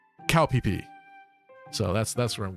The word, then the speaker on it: Koh Phi Phi: yeah okay one of the islands is called Koh Phi Phi as an average American citizen you might pronounce that kofifi but apparently this island in Thailand is actually pronounced cowp PE so that's that's where I'm going I'm going